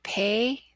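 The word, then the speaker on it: פ: to the spelling rules when it takes the dogesh it has a stopped hard sound like pie when it loses its digest it has that soft fricative sound with error that says F like phone and pay is one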